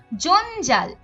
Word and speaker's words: জঞ্জাল: এর সাথে ছ যুক্ত তারপর জঞ্জাল এখানে ইয় এর সাথে জুক্ত হয়েছে এবং উচ্চারণ হচ্ছে ন এর মত ঝঞ্ঝা এখানে ইয় এর